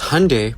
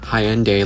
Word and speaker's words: Hyundai: Because Hyundai, pronounced like Sunday, not Hyende like you're saying, is a Korean company.